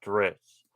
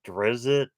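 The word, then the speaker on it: Drizzt: internet are pronouncing it drizzy but i don't see how they'll be pronounced that way because there is no letter between the z and the t and actually if you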